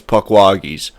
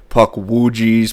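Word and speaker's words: Pukwudgie: So pukwagis, I've heard it pronounced a couple different ways. Pukwagi, pukwujis, pukwajis.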